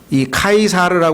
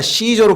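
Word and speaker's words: Caesar: 그 무렵에 카이사르 아우구스투스가이 카이사르 하는 말은 그 라틴어는 영어에 C 하는 철자가로 발음이 돼요 K 그래서 영어에서는이 단어가 시저로 바뀌어요 그러니까 카이사라 하는 말은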